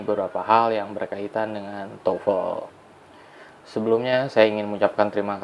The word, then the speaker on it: TOEFL: Yang pertama adalah pengucapan dari tofel itu sendiri. Jadi, tofel itu diucapkan tofel bukan diucapkan tufel dengan menggunakan U. Mungkin kebiasaan antara huruf O dan E jadi U tufel, tetapi pengucapan yang benar adalah tofel.